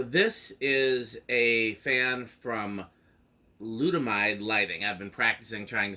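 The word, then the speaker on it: Ludomide: is a fan from glutamide lighting I've been practicing trying to say their name correctly I keep wanting to say Luma died or some other jumbling of the syllables it is l u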